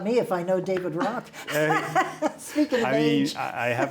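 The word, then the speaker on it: Roque: state trooper came in by the name of rock you probably know david david rock oh my gosh his name is spelled r-o-q-u-e i think he knows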